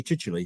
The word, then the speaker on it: Chichele: But the Chichele bit causes people lots of problems because it's spelt Chichel. And when they come to look at it, they have difficulty actually knowing to put a Y on the end of it.